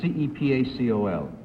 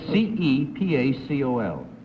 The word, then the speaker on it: Cepacol: Number 1, how do you pronounce C-E-P-A-C-O-L? Number 2. Can you repeat that? C-E-P-A-C-O-L.